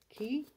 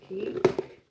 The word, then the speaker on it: Quay: a pair of key i think it's pronounced key glasses like just glasses and